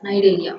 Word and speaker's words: Cnidaria: Okay, C is silent here, so we have to pronounce this as Cnidaria.